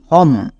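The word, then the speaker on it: home: ওকার আর মো ওম, তাহলে একসঙ্গে উচ্চারণ করো এইচ ও এম ই হম।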